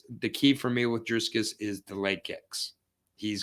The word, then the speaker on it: Dricus: He's got to Dricus, by the way. Huh? Dricus. I said, there's no S in the middle of his name. Dricus. Don't you pronounce it like a soft C?